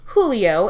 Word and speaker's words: Julio: quote Julio lead okay it's pronounced Julio and I think Mr fluent in Spanish David Soul would know that whatever there's this cute